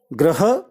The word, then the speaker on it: ग्रह: उच्चारण पर ध्यान दें जो पहला शब्द है ग्रह ग्रह जिसका अर्थ होता है प्लैनेट और जो दूसरा शब्द